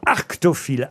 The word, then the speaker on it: arctophile: J'ai pas dit aracto, j'ai dit arctophile.